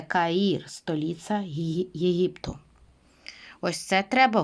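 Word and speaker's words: Cairo: дивимося зараз на екран вимовляю Кай та потім додаю е та потім Роу Тому це Каїр столиця Єгипту ось це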